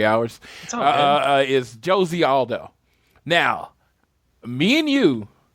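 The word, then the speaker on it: José: kind of existed until Josie Aldo's music hits. Yeah, Jose Aldo. Dude. No, and just to declare, it's Josie. I don't know why, but they pronounced the J in Brazil, so it's Josie Aldo.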